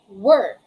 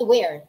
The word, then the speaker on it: we're: At yung contraction naman na we are, it's not pronounced as where. Usually, yun yung pagkakamali ng marami. Ang pronunciation doon, dahil contraction siya ng we and are, it is pronounced as we're.